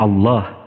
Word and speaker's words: Allah: Tetapi Allah ditafkhim, tebal dia. Ada makharijul huruf.